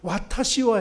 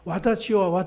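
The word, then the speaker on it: 私は: 자기는 평생 이렇게 앉아 있어도 그냥 이리 센세 일본어가 잘하나 못하나 끝나고 나서 이 발음이 와타시와 해야 되는데 와다시와 하니까 끝나고 나서 센세 오늘은 이 발음이 좀 잘못됐어요.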